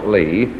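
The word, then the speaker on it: Leigh: is all set all right incidentally her name is spelled l-e-i-g-h doris delores lee and mr garth and his web orchestra and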